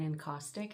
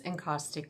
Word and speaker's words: encaustic: My name is and I'm an enostic and mixed media artist.